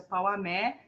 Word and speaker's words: Pauamé: Então essa aqui ela se chama Pauamé, ela se escreve Porramec, mas a pronúncia é Pauamé, e ela fala de uma situação que na Gratandona Ungri, vamos todos cantar.